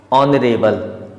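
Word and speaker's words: honourable: ए बी एल ई नरेल यह हॉनरेबल नहीं है नरेल है क्योंकि एच जो है शुरुआत में है और ओ से पहले इस कारण से यह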